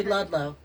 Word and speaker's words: Ludlow: How do you pronounce Ludlow? I say Ludlow. Like She goes loud. Lud, L-U-D, Ludlow. That's how I say it, Lud, L-U-D.